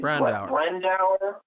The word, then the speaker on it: Brandauer: Brandauer.